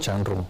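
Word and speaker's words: Zhang Run: Changrun, sí. Bien, o sea, lo pronuncié bien.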